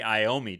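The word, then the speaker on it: Iommi: I was going to ask you and I met I mean, it looks like Tony Iomi to me.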